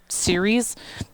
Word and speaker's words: Ceres: that they have it spelled this way but pronounced series you anyway um there was